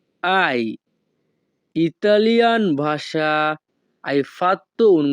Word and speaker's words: hai: এখানে HAI এর উচ্চারণ হবে আই।